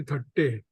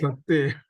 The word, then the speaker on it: Thatte: And more congratulations because you have pronounced my name correctly. Everybody calls me Thatte. Yes, my name is Thatte.